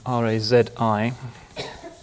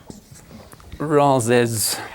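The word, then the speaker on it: Razi: his name up because it should be easy R A zi R A zi in this part of the world he had a again a Latin name whether he knew it or not razes which they thought was easier to pronounce than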